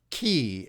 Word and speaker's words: ki: along meridian lines called Chi c-h-i or key as it's pronounced in Japan um Therapeutic Touch was